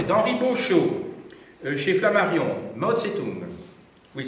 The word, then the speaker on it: Zedong: D'Henri Beauchot, chez Flammarion, Mao Tse-tung. Oui, ça s'écrit Zedong dans l'écriture pinyin actuelle, mais on prononce quand même Tse-tung comme avant.